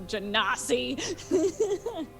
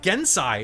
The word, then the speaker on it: genasi: Of course, he's a genasi. See, you pronounce it Genasi. It's like Gensai, isn't it?